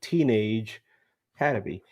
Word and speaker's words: Teenage Hadebe: That's how you pronounce his name, Teenage Had to be.